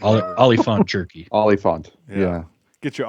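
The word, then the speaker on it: Oliphaunt: It's pronounced Oliphant. I know. I keep saying it wrong. It's Oliphant. Oliphant jerky.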